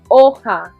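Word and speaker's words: hoja: in espanol repeat okay the h is silent oha is a leaf as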